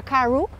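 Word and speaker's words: Carewe: Sí, Edwin Caru, el apellido se escribe Carewi, sí. Y Caru. Se pronuncia Caru.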